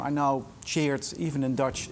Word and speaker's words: Tjeerd: I know Tjeerd, even in Dutch, it's really hard. My mother thought I would never leave Holland, but you can pronounce it like the past tense of to cheer.